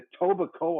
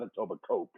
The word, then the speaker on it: Etobicoke: Hopefully I pronounced that right, Marco, from Audi Queensway in Etobicoke, Ontario. See, I know how to pronounce that, not Etobicoke.